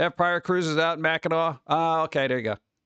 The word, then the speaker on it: Mackinac: No, the C is silent, so Mackinac? No, it's Mackinac.